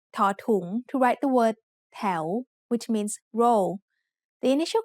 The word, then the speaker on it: แถว: แถว is said with a rising tone because it has a high-class consonant and a live syllable ending.